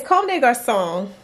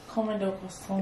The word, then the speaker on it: Comme des Garçons: It's Comme des Garçons. Comme des Garçons. Exactly. Comme des Garçons.